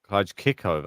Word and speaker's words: Krejcikova: Look, how to say we've been saying Krejcikova's name wrong. Oh no. The stress is on the I. Not Krejcikova. Krejcikova.